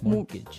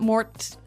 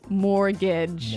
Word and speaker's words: mortgage: with a t yeah it has a t in it but you don't pronounce it you say mortgage morgage so not Mort morage not mortgage morgage morgage yeah I had